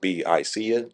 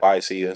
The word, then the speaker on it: Biseeya: Yeah, so it's actually pronounced Biseeya. Okay. Some people say Biseeya.